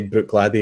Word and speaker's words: Bruichladdich: yella key true and I would have wanted to pronounce it Craig Ehlo G Craig lat Craig elachi right would be the American pronunciation or technically even Brooke Lottie I would butcher that if I hadn't heard somebody say how you say it right yeah and I think that the shorthand way to say to say that is to say Bruichladdich exactly like that has said slightly differently